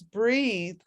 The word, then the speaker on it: breathe: on the end so with that e on the end is breathe and without that e it's breath it's talking about basically